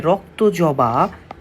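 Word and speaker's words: রক্তজবা: করে দিব দেখো এইখানে রক্ত জবা এই রক্ত জবা বাবা বা এর উচ্চারণটা আসতে পারে তোমরা একটু দেখো এটার উচ্চারণ হবে এইরকম রক ত জ বা এই শব্দটা একটা বিশেষ্য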